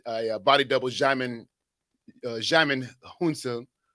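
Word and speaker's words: Djimon Hounsou: body double xiamen uh jamin hunson how can he say his name now jamin hansu yeah there you go yeah so he uh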